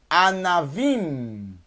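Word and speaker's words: ענבים: O na tem que ser agudo aqui, ó. Kametz. Anavim, uvas. A, num mais kametz. Na, vet, mais yud, mais mem sufit. Anavim, fecha a boca no final. Anavim, por causa do mem sufit.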